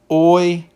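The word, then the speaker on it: οἴκου: And so, for example, we see here with this word, it is oiku. Oiku. The stress is placed on the first syllable, oi.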